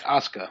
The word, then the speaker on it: Asuka: of those things like like shinsuke where you have a very short u MH it's like Asuka it's like there's almost